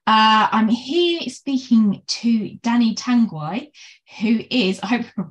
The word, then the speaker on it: Tanguay: I'm here speaking to Dani Tanguay, who is, I hope I pronounced your surname right, by the way.